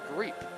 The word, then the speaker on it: Greep: Cameron Greep is how you pronounce it.